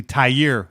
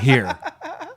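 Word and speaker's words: Tyre: to remind you that it's actually tie year Whitehead not here so when you call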